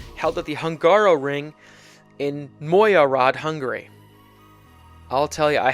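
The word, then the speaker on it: Mogyoród: Round 14 of the season is the Hungarian Grand Prix, held at the Hungaroring in Magyaród, Hungary. I'll tell you, I had to look up how to pronounce that one.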